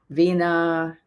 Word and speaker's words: Vinia: Vina. It's spelled Vinia.